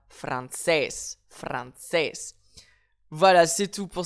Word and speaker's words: francés: un accent déjà écrit, donc je vais donc indiquer mon accentuation directement sur cette lettre, en l'occurrence le E, et on dira francés, francés.